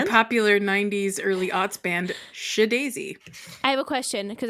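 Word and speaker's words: SHeDAISY: an apostrophe that and which is why I pronounce it as sh daisy as opposed to she Daisy I feel that was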